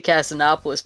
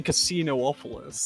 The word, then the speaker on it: Casinopolis: Is it actually pronounced Casinopolis? I don't Isn't know it? how it's pronounced. I'm just saying words. I guess it makes the most sense, right? Because you don't say Casinoopolis. There's no double O in...